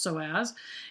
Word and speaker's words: psoas: psoas muscle this allows muscle obviously pronounced so as is the deepest muscle